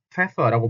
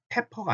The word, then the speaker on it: Pfeffer: 그래서 예를 들면 후추 같은 경우도 pfeffer라고 발음을 하는데, 그냥 pfeffer하고 pepper가 아니죠. pfeffer, pfeffer. 이게 pepper라고 들릴 수 있거든요.